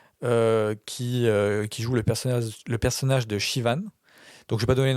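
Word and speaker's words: Siobhan: Et donc ce personnage s'appelle Shivan, mais s'écrit Slobhan.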